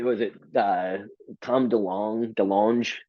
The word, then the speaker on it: DeLonge: it uh Tom Delong DeLonge how do you say that last name the long de longe got it yeah the French he's at the show